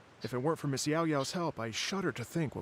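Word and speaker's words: Yaoyao: My name is Yao Yao.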